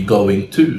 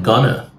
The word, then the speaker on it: going to: We can also think of another problem with pronunciation, which is stressing every part of the modal expression be going to. So they would say, I am going to instead of I'm gonna. So their pronunciation might be a bit unnatural.